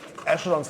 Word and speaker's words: echelon: Now I'm writing echelons, I pronounce it now ECH. I'm sorry about that. Echelon. form. Wait, have I not written this correctly? Let me look it up. Yes, sorry, it's pronounced echelon, but spelled E-C-H-E-L-O-N.